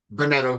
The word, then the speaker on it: Bunetto: name and I apologize how do you say it benetto B BTO okay bonetto bonetto here and